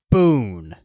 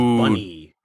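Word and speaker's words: Bune: Boon. It's like Bane, but like Boon. I think it's actually pronounced Bunny. I'm not allowing that.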